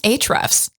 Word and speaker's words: Ahrefs: It's actually pronounced Ahrefs. Oh, sorry, my bad. Let's do it again. Ahrefs Podcast.